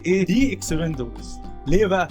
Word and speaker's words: The Expendables: دي اكسبندبلز. ليه بقى؟ عشان اكسبندبلز اولها اي وده فاول، فده لو جاب عليها كلمه اولها فاول بتبقى ايه؟ دي.